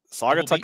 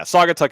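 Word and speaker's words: Saugatuck: but uh s yeah sagatuck is how you pronounce at least that's how I've heard it so we've we've got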